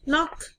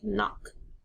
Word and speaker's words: knock: Fourth one, knock. Almost sounds like that. Knock. Or knock. But there's a silent K there that you need to be careful.